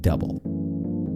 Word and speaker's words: Dubbel: just going to say it's double not duble but you call it